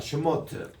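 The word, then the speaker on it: שמות: 그래서 브레시트라고 읽습니다. 그 다음 따라합시다. 슈모트.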